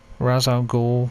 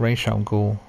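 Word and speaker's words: Ra's al Ghul: yeah the um razal gou character which they pronounce wrong it's Ral go in the comics in the animated series The 9s the um yeah so they say his name wrong razal go and it's League of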